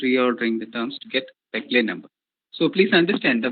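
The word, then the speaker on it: Péclet: So this product is called as Peclet number. Peclet number. Peclet number. The T is silent there.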